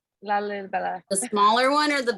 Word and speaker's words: Lalibela: Lalibela. Lalibela.